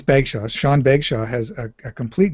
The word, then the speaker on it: Bagshaw: It is Sean, and I'm sorry if he watches this and I got his name wrong. It's embarrassing. It's Bagshaw.